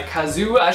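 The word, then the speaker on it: Kazuo: got to me Never Let Me Go by Kazu that's how you pronounce the name I do know that this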